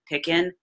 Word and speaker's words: Picken: P IC ke and pickin rhymes with chicken I know I like